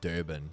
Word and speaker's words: Durban: that are maybe like Durban, for example. I think we will eventually do Durban. Is there any way to say Durban anyway? Other way, like Durban. Durban. It's always like the R is silent.